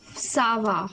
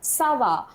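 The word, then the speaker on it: ça va: Sava. Sava. Okay. Fine. So how you know it is Sava?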